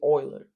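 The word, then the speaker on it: Euler: and oer form no Oiler form not ooler so the first I thought these pronoun the E is pronounced ooler but actually Oiler like boy okay so this is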